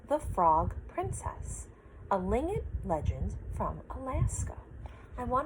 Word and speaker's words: Tlingit: It's called a Tlingit legend. The T is silent, and it is actually the language that the Athabascans speak, as well as the villagers from Fred's family and friends.